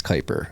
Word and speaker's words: Kuiper: And we were joined by Chris Kyper, the director of research at Fidelity Digital Assets. I paused there because Chris, I asked how to pronounce your name before, and he said it's Kyper, like diaper, and I almost said Chris Diaper.